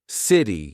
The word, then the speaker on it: city: something in American English if you have a letter T in the middle of a word sometimes you pronounce it as d letter letter letter because it's faster because it's smoother City you don't say it